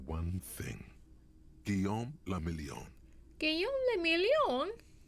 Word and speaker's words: Guillaume le Million: Guillaume le Million? If it doesn't rhyme, you're not pronouncing it Guillaume right. le Million. It has to be like that way.